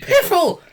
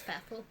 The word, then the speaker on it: Pfeffel: Did- Piffle. I think it's Peffel. If that's Pfeffel, that's even worse. I don't think you pronounce that.